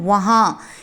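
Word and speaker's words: वहाँ: அங்கே அப்படின்னா வஹா. ஹிந்தியில் வஹா அப்படின்னு ப்ரொனவுன்ஸ் பண்ணணும்.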